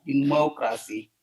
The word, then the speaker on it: democracy: we see that this the stress is in the second on the second syllable that is the more democracy more so uh and